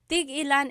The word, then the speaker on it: tig-ilan: Tig-ilan is a homonym, meaning it can have different translations depending on how it's pronounced. So tig-ilan, when there's a hyphen in it, you have to have that glottal stop. Tig-ilan. That means how many of each. When there's no hyphen, tigilan, tigilan.